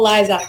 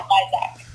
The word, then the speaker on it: Lysiak: my name's Lysiak. I know like my last name is really hard to pronounce because it's Polish, Yeah. but yeah, Lysiak.